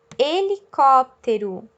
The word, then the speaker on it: helicóptero: e negação de nha um helicóptero h no início da palavra sem som acompanhando a vogal fica com o som de e a vogal e que o h acompanha cachorro cachorro a hora